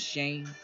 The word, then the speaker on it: Shane: My name's Shane. Rhymes with shame.